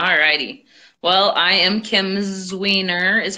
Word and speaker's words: Zwiener: Well, I am Kim Zwiener is how you say that.